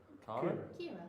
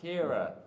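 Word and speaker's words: Ciara: Um, uh, uh, I've forgotten how to pronounce this name. C I A R A. Car. Kira.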